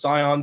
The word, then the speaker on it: Sayan: uh it's all good it's pronounced cion C however you want to do it yeah like the color yeah yeah just like